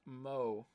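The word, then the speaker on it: moe: entertainment centered around characters who possess such traits pronounced mo all right we're not special as we like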